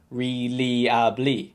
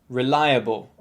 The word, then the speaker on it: reliable: the first one now some of my students often say like really because they're trying to read out all the letters individually it should be pronounced reliable reliable reliable it means